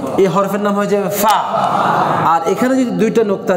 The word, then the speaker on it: ف: فা ফা ফা ফা এই নিচের ঠোঁটের পেটের মধ্যে উপরে দাঁতটা লাগান দুই ঠোঁট মিলেন অনেকে